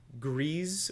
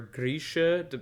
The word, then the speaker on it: Grisha: elena arrives and uh griez or grisha you know g-r-e-i-z depending on how you say it uh is is